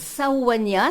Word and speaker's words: Sauvagnas: Alors, Sauvagnas, c'est dit en occitan, et s'écrit au NH, per l'unieux, amb un A accent greu.